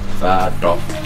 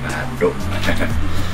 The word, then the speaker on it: Bathok: Karena tempatnya dari tempurung kelapa dan bacanya harus oh Bathok. Kalau salah baca namanya Bathok.